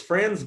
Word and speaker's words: Franz: think yes correct and also a fantastic first pronunciation of my name uh yeah uh it's franz wow i rarely have someone get it on the first time yeah so hi i'm